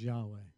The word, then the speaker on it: Yahweh: wasn't there might reappear we know it is Yahweh that's how we pronounce it but the letters in the Hebrew